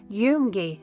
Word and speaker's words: Junge: For example, Junge, that means boys. Remember, J sounds like Y.